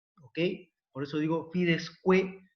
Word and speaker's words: quae: Por eso digo fides que y fides qua, ¿no?